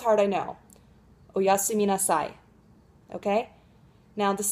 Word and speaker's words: oyasumi nasai: it's an honorific so you'd say oh yasumi then at the end you add nassai which is an imperative okay so you're telling someone to take a rest so you'd say oyasumi nasai okay let's give it a